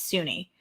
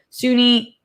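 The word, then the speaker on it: Soon-Yi: faro daughter uh sunyi suny i think is how it's pronounced spelled s-o-n-y-i and i think it's sunni is how it was pronounced so sunni and who is mia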